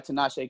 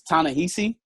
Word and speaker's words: Ta-Nehisi: how they're writing it, T'Challa is written by Tinashe Coates. Great run, and comic book fans out there. Isn't it Ta-Nehisi Coates? Ta-Nehisi. I've never known how to pronounce it. Ta-Nehisi Coates. Ta-Nehisi Coates, I think. It's Ta-Nehisi.